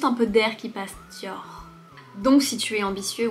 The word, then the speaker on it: Dior: et on le prononce Dior. On le prononce de façon très légère.